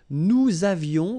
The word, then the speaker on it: nous avions: Nous avions, let's make this beautiful liaison here. Nous avions, okay?